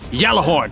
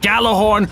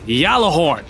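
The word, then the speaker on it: Gjallarhorn: I am pronouncing yellow horn correctly it is pronounced yellow horde not gala horn or ghazala horn ogallala horn whatever i'll even care that freaking dinkle bot pronounces it as gallo horn in the game it's yellow horn which originates from Scandinavian mythology it's Heimdall's horn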